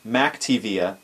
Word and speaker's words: McTiVia: If you're not familiar, the McTiVia, or it seems as if it's pronounced MacTiVia on their website, but it's spelled McTiVia, it's actually a device that